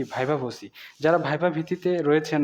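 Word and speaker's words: viva voce: আই ভি এ ভাইবা ভি ও সি এর উচ্চারণটা হবে কি ভাইবা ভোসি যারা ভাইবা ভিত্তিতে রয়েছেন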